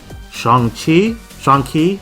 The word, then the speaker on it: Shang-Chi: Shang-Chi, that's how it's pronounced, the Kung Fu Master, and a combo pack, Cloak and Dagger.